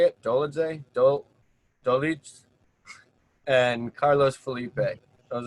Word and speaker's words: Dolidze: Dolidze?